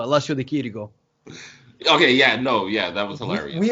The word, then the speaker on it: Chirico: No, CH is pronounced K in Italian, and C is pronounced Ch. So Alessio Di Chirico.